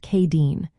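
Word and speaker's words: Céadaoin: Next up is Wednesday, which is called Sayadine, pronounced Kadeen.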